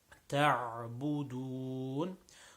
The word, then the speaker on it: تعبدون: لا أعبد ما, very simple, تعبدون. So ta', making sure the ayn is nice and strong.